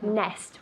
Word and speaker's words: nest: Nest, with that T at the end, nest.